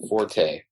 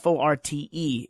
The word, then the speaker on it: Forte: it because it's actually the proper pronunciation of FO RTE is fort I think it's pronouncing his forte well it's it's now pronounce forte but originally it was fort so how is he